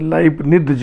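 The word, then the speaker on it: Leibniz: लेकिन अब लितज का जो ता है वो आप साइलेंट कर लेते हो। टोपलिज मैट्रिक्स, जैसे लाइबनिज होता है, लाइबनिज या लेबनिज पढ़ते हैं।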